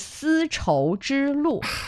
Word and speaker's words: 丝绸之路: It is 4 characters, and it is 丝绸之路.